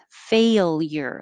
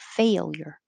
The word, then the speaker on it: failure: part failure it's two syllables but i wrote it as three because when you say fail your tongue is going very high fail fail and then back up for a year failure that's a lot of movement in a short looking word failure so you might have to say it slowly and then speed up to get the the movement right failure that's it um